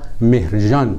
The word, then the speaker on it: مهرگان: عرب‌ها چون صدای گ ندارند، مهرگان را مهرجان تلفظ می‌کنند.